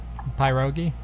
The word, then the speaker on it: pierogi: Well, Pierogi. in Polish it's pierogi, with more flourish. It's more of a long E than a long I.